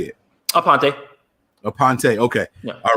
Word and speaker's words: Aponte: so but how do you say it apante aponte okay all right so i was doing a